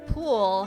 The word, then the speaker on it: Poole: And Marie Poole. Her name rhymes with cool.